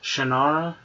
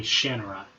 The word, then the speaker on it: Shannara: interviews and stuff in my head I've always pronounced it shanara but it's apparently shenra s h a n n a r a